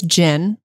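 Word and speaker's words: GHIN: going to need some device most likely it's gin and Jim is j-h-i-n no G oh G pronounced j g j g but that's what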